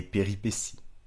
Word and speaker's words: péripétie: utilisé au pluriel des péripéties attention à la prononciation péripétie j'ai bien dit si même si ça prend un t I e à la fin deuxème mot attention at